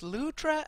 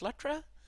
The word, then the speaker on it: Lutra: Uh, that reminds me that I should pronounce his name as Lutra and not as Lutra.